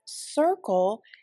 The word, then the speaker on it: circle: And the beginning C in the word circle is a soft C. What is the second one? That's right. The second C in the word circle is a hard C. It sounds like a K.